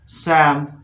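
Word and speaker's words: psalm: फोक, Holmes, पाम, Palmolive, सैम। यहाँ पर पी भी साइलेंट है, ध्यान रखना है, पी भी साइलेंट है इसमें, इसलिए सैम, लिंकन, मैलकम और क्वाम, सैमन, सेव, सुड, सोडर, योक।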